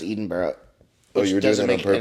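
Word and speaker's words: Edinburgh: day and it's in Edinburg Scotland it's pronounced different right it's pronounced Eden Bar oh you're doing on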